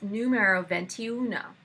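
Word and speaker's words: N°21: Next, number 21, and it's numero 21. Which is Italian.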